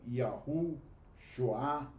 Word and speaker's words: Yahushua: Mas o próprio Yud-Hei Shoah, eu pronuncio como Yahushua, né?